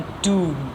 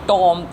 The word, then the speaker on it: tomb: Epitaph क्या था, words inscribed on टूम, इट्स नॉट टॉम, इट्स टूम।